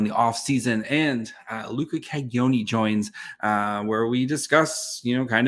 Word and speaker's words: Cagnoni: So kind of a Y instead of a G. So Cagnoni.